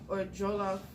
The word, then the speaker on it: Wolof: So, I guess these are some of the ethnic groups, and the Wolof, many people believe, or Jolof. So I think it's called, the way they pronounce it, or Jolof people migrated into Senegal from the northeast sometime around the 11th century.